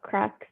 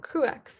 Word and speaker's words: CruX: So a little about CruX at UCLA.